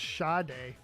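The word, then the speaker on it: Sade: Bino says it's pronounced shade.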